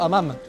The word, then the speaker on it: hammam: Un truc à tester absolument à Marrakech, et même au Maroc, hein, c'est les fameux hammams. Non, hammam. Parce qu'ici le H est bien prononcé, les hammams.